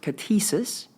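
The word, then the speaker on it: κτίσις: the word is fascinating in the Greek it's pronounced ctisus and it's primarily used in the New Testament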